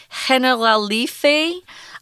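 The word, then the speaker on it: Generalife: these Gardens which have kind of a weird pronunciation it's Spanish so it's henna La Liffey Gardens and Orchards orchards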